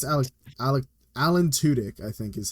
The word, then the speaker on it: Tudyk: Alan Tudyk is returning as Clayface in the DCU's Creature Commandos, which actually comes out, I believe, December 5th. Oh yeah. I like I think it's Tudyk. Tudyk.